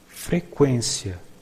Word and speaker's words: frequência: In Portuguese, in the past, trema was used to indicate that you should pronounce the U in some words like frequência, frequência, frequency, unguento, unguento, unguent. Now the trema was abolished, but the pronunciation is the same.